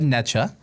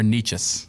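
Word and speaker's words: Necas: I wanna- said Necha. It's Neches Yeah. or Nietzsches. Nikash. No, it's not cash. It's Nietzsches. Is it?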